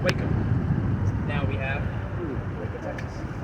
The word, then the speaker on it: Waco: Over time, the tribe name was mispronounced to go from Waiko to Waco.